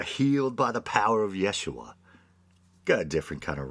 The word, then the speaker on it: Yeshua: constantly mispronouncing his name isn't the proper Aramaic pronunciation Yeshua you are healed by the power of Yeshua got a different kind